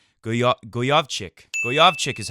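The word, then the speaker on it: Gojowczyk: beat how do you say his name again Gojo Vic Gojo vich is what I used to say go goovi goovi is how they're saying it now 6462 pretty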